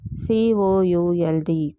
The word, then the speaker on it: could: C O U L D. Could L is silent.